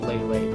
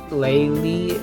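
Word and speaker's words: Leyley: supposed to be called Lele, but, I pronounce it like Laylee, like Bailey, you know, that kind of thing.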